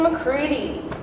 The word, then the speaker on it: McCready: Dixon McCready. Rhymes with seedy.